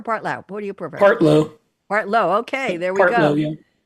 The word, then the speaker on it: Partlow: Now, Rick, am I pronouncing it right? Partlow or Partlow? What do you prefer? Partlow.